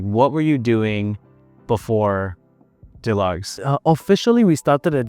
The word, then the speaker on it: Delugs: tried these straps from Duj? And I was like, what? And then I I was like really confused. And then we we learned that we were just pronouncing it wrong. It was DUGs.